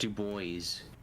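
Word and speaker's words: Du Bois: Dubois? I'd rather stand. It's pronounced Dubois.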